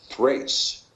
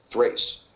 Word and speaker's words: Thrace: Terrace in the KJV but it's actually better pronounced Thrace Thrace because of the top have been a th